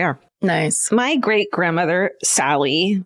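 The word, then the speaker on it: Sali: My great grandmother, Sally, it's S-A-L-I, but then she tells me it's pronounced Sally, was an OG badass.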